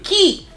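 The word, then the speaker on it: χ: So I'm gonna count Kai, Unchained Kai, and Union Kai as like all one.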